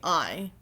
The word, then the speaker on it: Ai: would have to be I. Now, I herself, and yes, I do realize her name is spelled AI, artificial intelligence.